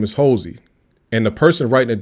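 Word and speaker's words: Holsey: census and told them hey my name is Hosy and the person writing it down might have said uh how do you spell that they don't ask the person or they just write it down.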